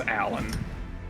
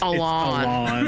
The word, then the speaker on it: Alon: I know it's not pronounced Alan. It's Alon. Alon.